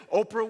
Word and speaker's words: Oprah: how famous she is Oprah Winfrey and she was originally named Orpah but people started pronouncing it Oprah Oprah Oprah and it